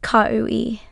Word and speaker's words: Cowi: It looks daunting, but it that's just kaou ei stumbled on my name when she read attendance.